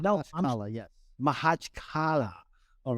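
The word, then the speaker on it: Makhachkala: it's called, and you'll get me on the pronunciation, John. Mahachkala in Dagestan, and said, no, Mahachkala, yes.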